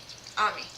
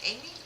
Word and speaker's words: Ami: I'm gonna start reading for you, Ami, but Ami. Okay. I was saying it right, but then I was like, Amy? Maybe? I don't know.